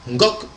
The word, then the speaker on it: Ngok: Car le N, c'est un guttural qu'on rajoute pour donner probablement de l'épaisseur à la prononciation, mais le Bassa contracte ces formes pour en faire un Ngok tout simplement, donc pierre angulaire, tout comme le Fan d'ailleurs.